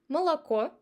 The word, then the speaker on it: молоко: But when it's unstressed, it's pretty close to A or this sound. Repeat after me. Молоко, отель.